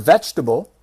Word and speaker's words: vegetable: If you have trouble with the word vegetable, 3 syllables, vegetable, then you can say veggie.